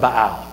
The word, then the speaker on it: Baal: and the prophets of Baal you could pronounce a ba very good pronunciation there's also I I say B Al pale whatever two different people and they were both right two different answers absolutely